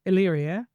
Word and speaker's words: Illyria: I'm still going, now, how do I pronounce this again? It would take me a while to get used to. Illyria. Oh, Illyria. Now, have I got that spelled right then?